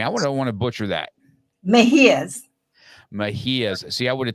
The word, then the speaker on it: Mejias: name for me I want to butcher that mejias mejia's see I would have totally butchered it I would have just called you